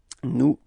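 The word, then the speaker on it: nous: plural it's okay and keep in mind that is pronounced like okay new repeat new yeah that's it second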